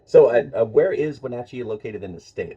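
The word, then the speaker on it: Wenatchee: so my guest today elain Eagle uh from wachi uh Washington am I pronouncing that right that's correct yep all right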